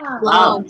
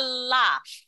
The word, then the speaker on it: laugh: Jadi pelafalannya itu adalah laugh. L-F, bacanya laugh, bukan love.